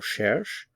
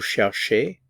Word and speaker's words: cherche: These forms are all pronounced the same.